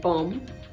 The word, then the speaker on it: bomb: womb for nine months it's also silent in bomb right so not bomb bomber nothing bomba a suicide bomber killed six people in boronu yesterday a very sad situation happened in Nigeria say Boma not bomba bomb not bomb succumb not succumb succumb